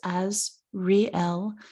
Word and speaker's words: Azrael: show is about archangel azrael and the name means help of god or whom god helps and you heard me pronounce it so you know it's as real and the origin of